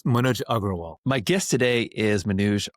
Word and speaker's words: Agrawal: My guest today is Manuj Aaral. Am I pronouncing that correctly? It's Manoj Agraal.